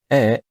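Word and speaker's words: へ: Nah, meskipun ini huruf H ya, Teman-teman. Meskipun ini huruf H, tapi ketika dia jadi partikel maka dibacanya E.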